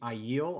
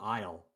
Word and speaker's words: Aiel: The Aiel, I called aisle like it's an aisle in a store.